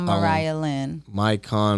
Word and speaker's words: Mariahlynn: How you pronounce it again? Mariahlynn. Mariahlynn.